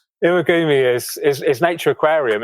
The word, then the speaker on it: Iwagumi: I always put iguami. What is the actual pronunciation? Iwagumi is nature aquarium.